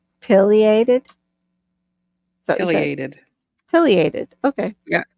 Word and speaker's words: pileated: It's pronounced pileated. Pileated?